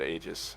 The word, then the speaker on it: Aegis: Aegis, there it is. It's Aegis. Aegis. Aegis, yeah. That sounds like an old woman. To be honest. Oh god. Yeah, Aegis. You got to pronounce it Aegis.